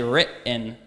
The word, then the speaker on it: written: stop like what but how about written I don't say written I say RIP in but in mountain kind